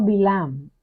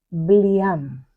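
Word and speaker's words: בלעם: El nombre hebreo Bilam se escribe con las letras Bet, Lamed, Ain y Mem. Como el texto original no tiene vocales, es posible entender su nombre también como Bliam, que significa sin pueblo.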